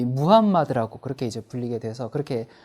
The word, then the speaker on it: 무함마드: 여러분 우리가 어렸을 때는 이제 그 마호멧이라고 이렇게 배웠죠. 근데 이제 이건 영어식 발음이고요. 요즘은 이제 국제적으로 아랍식 원래 발음인 이 무함마드라고 그렇게 이제 불리게 돼서 그렇게 부르도록 하겠습니다.